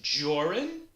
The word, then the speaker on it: Jorrun: My name is Jorrun. That's Jor rhymes with or, and run, which is what you